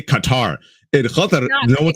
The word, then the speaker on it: Qatar: If you actually go to Qatar, the way Qataris pronounce it is Qatar. So that's how you pronounce it in Qatar. And so I can't do the Qatar, so I do Qatar.